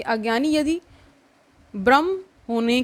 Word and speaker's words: ब्रह्म: क्या होता है कि भ और ब का जो उच्चारण है वो एक जैसा साउंड करता है, तो इन्हीं को हम होमोफोन्स कहते हैं ना इंग्लिश में, कि उच्चारण मतलब सेम सा हो जाता है, तो वही चीज़ है। तो कई बार वो भ्रम और ब्रह्म, ठीक है, ये चीज़ आप ध्यान रखिएगा।